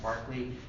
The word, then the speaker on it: Berkeley: I know it's read Berkeley, but it's pronounced Berkeley.